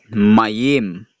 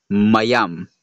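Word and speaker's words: מם: This letter is not mayim kundi mayam.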